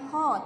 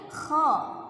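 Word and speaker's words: خ: Nah, perhatikan cara menyebut huruf kho. Seperti kita mengeluarkan dahak ya, bukan kho tapi kho. Nah, ada sesuatu keluar dari tenggorokan kita.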